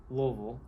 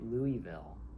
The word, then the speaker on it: Louisville: So people in Louisville say Louisville, which is almost like one syllable. I can't really say it very well. And then people outside of Louisville say Louisville.